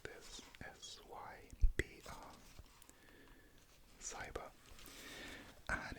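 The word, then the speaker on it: SYBR: You spell it like this, S-Y-B-R, cyber, and it's basically a dye which binds to double-stranded DNA.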